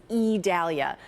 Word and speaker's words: Idalia: HURRICANE CENTER AFTER HEARING IDALIA IDALIA IDALIA CAME OUT WITH THE OFFICIAL PRONUNCIATION IS IDALIA LIKE A LONG E SO THAT'S THE OFFICIAL PRONUNCIATION.